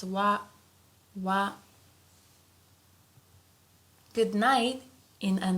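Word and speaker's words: は: So although here this is hiragana ha but sometimes we pronounce it as wa wa.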